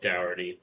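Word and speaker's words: Dougherty: more like it Nick it's very much spelled like Doty but they say it like dty throughout film I just didn't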